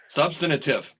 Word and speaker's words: substantive: the substantive substantive correction substantive that's a big word the accent is on the first syllable tom you need a